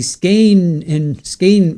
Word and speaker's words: skein: Skein rhymes with rain.